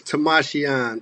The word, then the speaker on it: Timashion: name for me again uh my name is tamashian tamashian jones tamashian all right tamashan i probably won't even have to say your